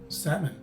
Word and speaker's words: salmon: a silent letter and the letter o is a sua sound meaning it sounds much shorter than a short o so this word is pronounced as salmon the third word we